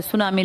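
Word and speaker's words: tsunami: इसमें T silent है। सुनामी लिखते हैं।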